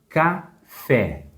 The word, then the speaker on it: café: A palavra café. Café. A sílaba mais forte é a última também, o fé.